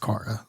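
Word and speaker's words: Kara: in Kryptonian day school and it's like it's pronounced Cara so all right cool I I feel for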